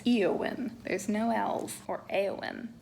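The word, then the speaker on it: Éowyn: Lord of the Rings it's not Elwyn it's eowin there's no Elf or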